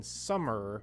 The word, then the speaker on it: summer: aren't all the same so in summer right it's er er er even though it's an e sound it makes the sound er and then with birthday